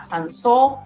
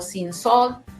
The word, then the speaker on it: Cinsault: Y ahí es donde podemos encontrar la uva país, por ejemplo, podemos encontrar la uva Sansó o Cinsault, ¿verdad? Podemos pronunciarla de las dos maneras, un poco al francés, ¿verdad?